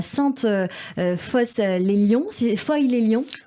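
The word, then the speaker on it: Sainte-Foy-lès-Lyon: vous êtes né le 28 mars 1960 à sainte foy les lyon si les fouilles les lions pour toi sauf foy les lyon comme ça que ça se prononce dans la région rhône alpes avant de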